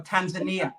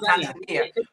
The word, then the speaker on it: Tanzania: He's from Tanzania, but or Tanzania is the way they pronounce it. Tanzania.